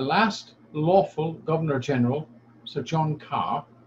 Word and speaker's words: Kerr: lawful Governor-General, Sir John Kerr, or Kerr, whichever way you want to pronounce it, he, in conjunction with